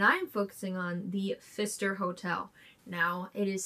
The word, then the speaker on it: Pfister: weird Wisconsin and I am focusing on the Fister hotel now it is spelled p f i s t r but it is pronounced Fister I you know did Google it to see